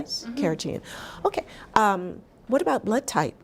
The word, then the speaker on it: carrageen: So now I'm seeing that they have almond milk with am I pronouncing it correctly? Yes. Carrageen.